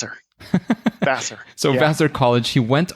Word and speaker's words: Vassar: cognitive science from vasar vaser vasar how's that pronounced vaser Vasser so vaser College he went on to lead